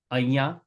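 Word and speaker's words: અહીંયા: In the word aiya, it's written ahiya. You are here. Tame ahiya cho, but it's usually pronounced aiya. We don't pronounce the H.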